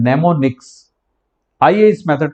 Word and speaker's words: mnemonics: आप अगर यहाँ पे रीड करेंगे तो उसमें एम दिखाई देता है, लेकिन वो एम साइलेंट है, इसीलिए इसको रीड किया जाता है नेमोनिक्स।